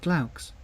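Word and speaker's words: glaux: are long and buff you should pronounce it cloaks from what I recall from my classical studies that means owl famously Falcon comes from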